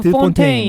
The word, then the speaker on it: 드 폰테인: 거기 드 폰테인이라는 발렌티나 뭐 머시기 발렌티나 드 폰테인 네, 네. 그냥 폰테인이라고 하고 싶지만 또 극 중에서 드 폰테인이다라고 본인이 얘기를 해주시기 때문에 네, 또 네.